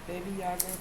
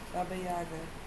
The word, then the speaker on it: Baba Yaga: To the Slavic people of Eastern Europe, Baby Yaga, pronounced Baba Yaga, is an old woman of autumn whose spirit lived in the last kernel of harvesting grain.